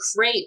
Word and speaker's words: CREP: program you direct the crepe that's pronounced crepe rhymes with grape it's uh the collaborative